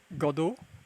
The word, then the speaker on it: Godot: implementation uh let's see the t is silent ah say the word god and add the o at the end godo godo godo godo ah